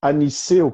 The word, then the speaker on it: Anicet: Ó, o meu sobrenome, na verdade o meu nome completo, né, é Aniceu. E Aniceu se escreve com T no final, mas é um T mudo, né?